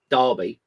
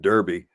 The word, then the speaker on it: Derby: It's spelled D-E-R. How do you get dar out of that?